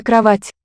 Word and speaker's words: кровать: soft sound could be having that same influence here, it's a tonic syllable. Кровать. The Кровать. pre-tonic o shifts to just an a.